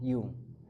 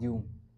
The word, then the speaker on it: Jung: Ada filsuf yang aku catat dalam buku ini namanya itu Carl Yung. Tulisannya Karl Jung tapi dibacanya Carl Yung.